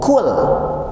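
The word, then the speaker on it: قُل: Ketika kita membacanya qul, lihat saya lagi ya, harusnya kul, koknya tertahan udara, malah dibaca kul, ada angin keluar, ada udara yang keluar.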